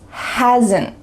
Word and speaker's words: hasn't: Do you hear that little schwa sound added?